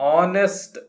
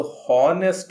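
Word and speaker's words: honest: ವಾಸ್ ಹಿ ಆನ್ ಆನೆಸ್ಟ್ ಮ್ಯಾನ್? ವಾಸ್ ಬಂತು, ಹಿ ಬಂತು, ಆನ್ ಆನೆಸ್ಟ್ ಮ್ಯಾನ್ ಎಜೆಕ್ಟಿವ್ ಹಾಗೂ ನಾಮಪದ ಎರಡೂ ಬಂದಿವೆ. ಆನೆಸ್ಟ್ ಅಂದರೆ ಪ್ರಾಮಾಣಿಕ. ಇದು ಹಾನೆಸ್ಟ್ ಅಲ್ಲ, ಎಚ್ ಅಕ್ಷರವನ್ನು ಉಚ್ಚಾರ ಮಾಡಬಾರ್ದು. ಇದು ಆನೆಸ್ಟ್.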